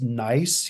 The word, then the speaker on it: gneiss: lined rock with all these like, and it's gneiss, you know, it's spelled Gneiss.